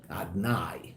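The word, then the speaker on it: Adonai: Now we pronounce Yud-Ke Vav-Ke, which is all about revelation, shem of Rachamim, but we pronounce that name Adni, Adnai, right? Without the O, I'm allowed to say it, don't worry, right?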